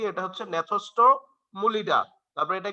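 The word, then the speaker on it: Gnathostomulida: জি দিয়ে ন্যাথোস্টোমুলিডা। এই যে দেখো পাশে লিখা আছে, নামগুলা একটু আমার সাথে উচ্চারণ করো, হ্যাঁ, কারণ নামগুলা একটু কঠিন তো,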